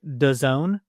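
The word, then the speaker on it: DAZN: Uh I think the streaming rights are going to be on I believe you said it's pronounced Done. D A Zen.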